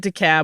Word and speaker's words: DeKalb: to let you know the crazy way locals pronounce DeKalb. They say the L sound. We say it DeKalb because we both lived in Georgia.